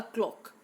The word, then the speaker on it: cloak: Okay, well, there is a difference between clock and cloak. The pronunciation, we say the cloth. Okay, this thing, this is cloak, cloak. And the clock that is hanging on our wall, that is clock.